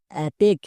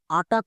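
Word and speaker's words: attack: সি কে অ্যাটেক এবার এখানেই অনেকে ভুল করে একে আটাক উচ্চারণ করে আটাক হবে না আমরা জানি এ সি কে এটা হচ্ছে ওয়ার্ড প্যাটেন এর জন্য জন্য উচ্চারণ হয় এক সো এ এর জন্য আ ডবল টি এর জন্য টো আট প্লাস এক আটেক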